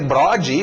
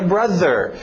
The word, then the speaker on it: brother: um gringo e dizer brode, ou brother, ele não vai entender isso. Eu tenho que falar a pronúncia certa, que é brother.